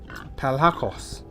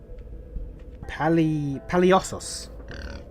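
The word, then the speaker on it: palhaços: In case you want to know, in Portuguese we call them palacos. Palacos. That's probably the wrong pronunciation, but it's okay. There we go. It's pronounced paliosos. Paliosos.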